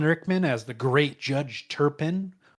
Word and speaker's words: Turpin: Alan Rickman as the great Judge Turpin, who I always mispronounce for whatever reason. I always want to say Tobin, but that's not it.